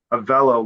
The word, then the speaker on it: Avelo: And you said yellow, Avelo, like yellow.